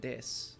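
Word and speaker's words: です: Yeah, when you say SU at the end of a sentence, it's pronounced S. Yeah, a lot of sentences will end with dis, which is DESU.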